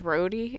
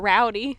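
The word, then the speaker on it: Rody: yeah number one um his name is rhody it's not rowdy it's not roddy and it's not rodeo either i'm sorry to break your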